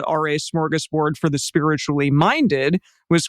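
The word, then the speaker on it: smörgåsbord: American English but uh smorgus board is how it said o Lots yes all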